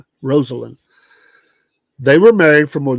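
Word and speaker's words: Rosalynn: The former president sometimes called his wife, who died November 19, 2023, Rosie, which is a good way to remember how her name actually is pronounced. It is Rosalind, not Rosalind. Rosalind.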